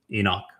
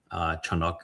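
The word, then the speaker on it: חנוך: It's not my first existence was as Enoch. Chanuk is the correct pronunciation of it.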